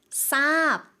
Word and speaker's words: ทราบ: 오히려 쌍시옷 발음이 됩니다. 그래서 굉장히 독특한 예시거든요. 그래서 단어 살펴보도록 하겠습니다. 첫 번째 단어입니다. 모래, ทราย 알다의 공손 표현. ทราบ 두 가지 단어를 가지고 왔는데요.